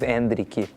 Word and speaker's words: Endrick: you guys went with my uh Brazilian Portuguese pronunciation of andri everyone's going to end up calling him andri obviously andri but and but you